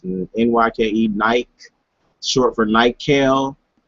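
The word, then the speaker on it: Nyke: it's NY ke alright pronounce it right to by the way it's not nike is NY ke bike short for night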